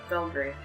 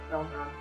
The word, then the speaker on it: Belmont: Now, this one was a little bit cheekier because you get to hear the actual voice actor for Robert Belgrade. Belmont.